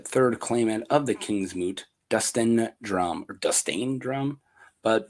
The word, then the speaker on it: Dunstan: Dunstan, do you guys say Dunstan? Dunstan Drumm? Dunstan, not Dustin, right? You got to pronounce that.